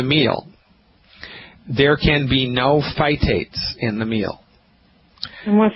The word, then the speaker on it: phytate: selenium with a meal, there can be no phytates in the meal. And what's phytate? Well, let me spell that for you.